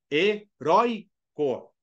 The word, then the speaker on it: heroico: o assento por quê Porque ele é uma paroxítona a sílaba forte é a penúltima heroico Entendeu agora não confunda